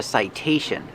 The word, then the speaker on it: citation: Citation, the T makes a T sound because it's before the stressed vowel.